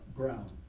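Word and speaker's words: Broughyne: Brown, B-R-O-U-G-H-Y-N-E. The E is silent.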